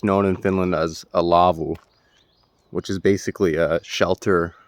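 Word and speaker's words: laavu: this is what's known in Finland as a Lavo which is basically a shelter or a hut it's spelled l-a-a-v-u and they're located all over Often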